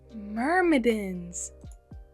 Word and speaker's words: Myrmidons: Myrmidons. Sounds like mermaids!